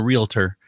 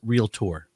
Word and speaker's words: Realtor: have to pronounce it Realtor. We sent them, we sent an air check. You're not saying it right. I said Realtor. No, you have to say Realtor.